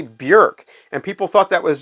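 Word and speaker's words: Björk: didn't know it either I've been calling her Bjork for a long time her name is actually Burke and people thought that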